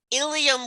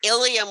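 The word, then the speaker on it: ileum: The words sound exactly alike, ilium and ilium. So you have to look at the spelling, and you see ilium with an E refers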